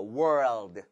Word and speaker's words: world: World 같은 경우는 굉장히 오랜 시간이 필요한 발음이라서 그래도 적어도 한번 시도는 해보도록 할게요.